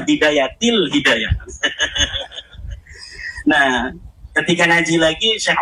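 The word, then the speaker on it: بداية الهداية: Kenapa ada huruf jer B katanya dibacanya bidayatul hidayah? harusnya bidayatil hidayah.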